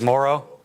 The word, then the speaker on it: Moreau: I thought it was Moreau, right? That's because Gruden called him Moreau and he didn't want to correct him. He thinks it's Morrow?